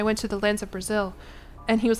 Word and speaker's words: Brazil: And he was like, no, Jillian, it's not Brazil, it's Brazil. Or like Brazil. Like, there's like a way that you guys say the L at the end that's different than how Americans say it.